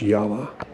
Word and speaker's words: Jawa: yavas or as we know them as Jawa I do believe that is pronounced yawa that's an interesting frame